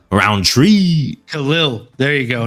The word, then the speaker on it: Khalil: Khalil Roundtree. Khalil.